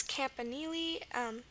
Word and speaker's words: campanile: Figure out the campa part, and the nili, the N is normal. And then the I here, it's a long E sound, E, which is going to be I usually in the middle of words.